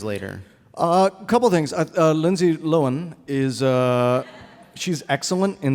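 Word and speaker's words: Lindsay Lohan: I'm going to say her name properly the Lindsay loen vehicle Herby fully loaded yes do we do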